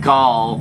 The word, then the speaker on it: Gol: you know so yeah pronounce his name gaul like on spyro eternal night call the eight king